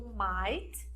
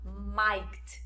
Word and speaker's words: might: not logo depois do might, lembrando que os GH são silenciosos, então você não vai pronunciar might, não, é might, might. Só ignora o GH e a pronúncia vai sair perfeitinha.